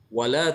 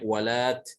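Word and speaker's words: ولات: Wala tahina manas. Kalau berhenti di sini, maka dibacanya walat dengan tak, bukan wala, tapi walat. Walat.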